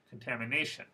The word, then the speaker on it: contamination: stress ready verification distribution contamination I hope you noticed that word stress is in the fourth syllable so again the word stress in all of these words is one syllable before the suffix one syllable before the